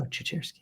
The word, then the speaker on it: Ciecierski: She just says you just have to say chair. Yep. Sitting in a chair. So I said, "Oh, Ciecierski."